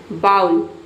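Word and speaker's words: bowl: Toothpaste toothpaste ढक्कन ढक्कन को हम इंग्लिश में बोलते हैं लीड चिमटा टोंग्स टोंग्स कटोरा बाउल बाउल इसे कई स्टूडेंट बॉल भी प्रोनाउंस करते हैं। बॉल सही प्रोनाउंसिएशन है। दोनों प्रोनाउंस कर सकते हैं। बॉल या फिर बाउल कपड़े क्लोथ क्लोथ्स आयरन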